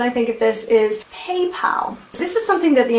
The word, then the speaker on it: PayPal: all things German do you Germans say hey Paul who is Paul and why are you paying him it's PayPal moving on the other thing that sweets mind